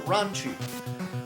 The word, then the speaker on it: Lunch: Well, Gohan is just, what, lunch? Something like that? Meanwhile, there's a character named Lunch. Or Lunch. Or Ranchi. Also funny that her name could be pronounced as Ranchi, because it's Akira Toriyama.